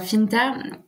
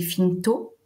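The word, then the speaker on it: fintò: pourquoi ce nom alors Finder déjà je trahi un peu l'occitan puisqu'il faudrait prononcer finto et c'est l'injonction en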